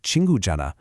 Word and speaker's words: 친구잖아: The h sound, the he in Janna, it's silent. You just don't say it. So for a word like chingujanna, you're not pronouncing that h at all. It just sounds like chingujanna.